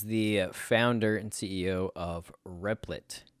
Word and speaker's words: Replit: founder and ceo of riplet oh it's spelled rebel dot it but it's replit um very compelling interview